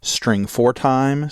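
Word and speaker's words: strftime: is stf time now you can either pronounce that string for time string format time but the idea is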